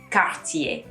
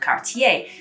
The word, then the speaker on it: Cartier: the accents that's particularly where i come from is t sometimes are pronounced like a d hence the cartier from my family second thing to make sure that you remember is that there should be three actually syllables here so it should be